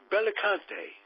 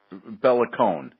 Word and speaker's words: Bellicone: And my good buddy Jerry Feidelberg is here, my new buddy, and I'm pronouncing Bellicante. How's that? Bellicone, no T.